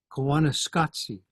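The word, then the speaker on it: Koyaanisqatsi: people uh and here's the definition of it kanana scoty is how you pronounce it and it comes from a documentary that was made in 1982 with that uh title Kos scopy as you can see means Crazy Life uh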